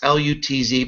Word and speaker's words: Lutz: It looks like Lutz, L-U-T-Z, but it's pronounced Lutz.